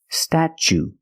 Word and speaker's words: statue: the CH sound stat statue for the second syllable we use the long o like Boot and moon ooh together statue this is the Statue